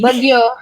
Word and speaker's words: BGYO: Bagyo.